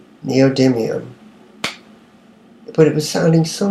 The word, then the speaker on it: neodymium: Neodymium. But it was sounding so much cooler when I was mispronouncing it.